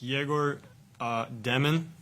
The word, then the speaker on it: Egor Demin: For Egor, I just want to first ask, how would you like us to pronounce, your full name? It's Egor Demin.